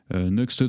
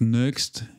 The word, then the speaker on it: Nuxt: Donc Next, certains prononcent Nuxt. Il me semble avoir entendu Sébastien Chopin dire Nuxt.